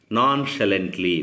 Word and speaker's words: nonchalantly: So it is pronounced as nonchalantly, which means doing carelessly in a relaxed manner and without any seriousness.